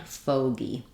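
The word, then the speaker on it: fogey: dip thong K kg but in bogy or also fogy this is less common but we have this letter G saying the G sound um like in girl and so um we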